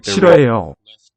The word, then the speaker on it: 싫어해요: So a nice silent H here in that initial syllable. It's got nice 4-part structure. One for each corner. And they're 싫어해요. 싫어해요. SILH, roughly. L will 싫어해요. as more of an R, between vowels.